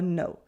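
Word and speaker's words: non: thing with no for no we often pronounce it as no no with a slightly different nasal sound can you hear the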